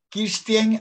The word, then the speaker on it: Kirsten: Kirsten, así se pronuncia tu apellido, tu nombre, Kirsten de los Santos.